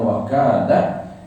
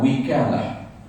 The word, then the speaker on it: wakalah: baca perkataan wakalah ha wakalah boleh dibaca dengan wakalah atau wikalah ha wakalah atau wikalah dua cara baca maknanya makna wakalah pada